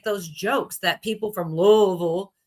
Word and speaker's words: Louisville: That's why I don't say Louisville.